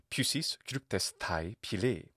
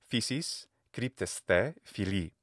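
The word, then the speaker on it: φύσις κρύπτεσθαι φιλεῖ: And that actually does remind me of something else that Heraclitus wrote, which was, Pusis kryptes thai pili. That's the classical Attic pronunciation, modern Greek pronunciation. Physis kryptes the fili.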